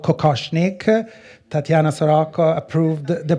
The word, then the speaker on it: kokoshnik: The beautiful headpiece is called kokoshnik. Tatiana Soroko approved the pronunciation, and although it was kind of a